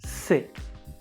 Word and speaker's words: sais: also be careful that the s at the end of the word is not pronounced so it's silence says or sais is not correct the only correct pronunciation of this word is si let's repeat from the